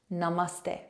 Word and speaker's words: namaste: naste naste now let's put it all together Namaste Namaste Namaste and again close your eyes and